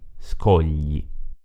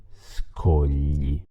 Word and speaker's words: scogli: Il suono gli, tipico dell'italiano, è formato dalla combinazione G, L, I.